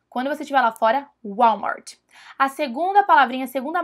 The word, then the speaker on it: Walmart: marca de supermercados Walmart mas não é assim que eles falam eles falam Walmart Walmart é assim que eles pronunciam então se você for